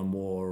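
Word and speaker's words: Waugh: can still get insights from you know evil war or um or Jane Austin or or something like that or I might read business books poor Zoe's writing down all these authors I know ion war war how you spell that w a u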